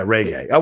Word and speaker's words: reggae: Yeah, reggae. Well, I pronounce it in a way that's, to me, it's like both those syllables are important in the overall word. The Reggae. ray and the gay.